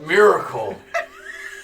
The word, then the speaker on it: Myrkul: Miracle. Miracle.